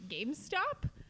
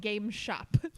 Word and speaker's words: GameStop: I also love on Twitter, I was seeing so many people mispronounce GameStop. No And I was like, way. one way to show that you have never played a video game in your entire life is to call it Game Shop.